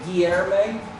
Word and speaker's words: Guilherme: It's Guilherme. Okay, so anglicizing a bit, sort of Guilherme. Yeah. Okay. But yeah, Right. Americans can't pronounce the L.